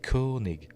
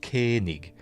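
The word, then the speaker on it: Koenig: Anyway, joining the voyage are legacy Star Trek actors William Shatner and Walter Kanig along with um more than 20 I always want to say Koig. I know I've heard it pronounced Kanig, but I always think of Commander John Koig from Space 1999.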